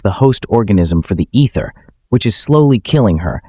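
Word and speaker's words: Aether: Using an ancient seemingly unlimited energy force known as the ether, pronounced ether, which looks like fruit juice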